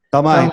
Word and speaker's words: Thamay: E o último nome aqui do professor é Tamai, a pronúncia é essa ou não? Tamai, correto.